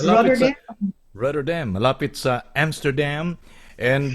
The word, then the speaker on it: Rotterdam: Pa-pronounce? Yes, it's Rotterdam.